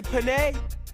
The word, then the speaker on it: Penne: Everybody say penne, because it rhymes with money.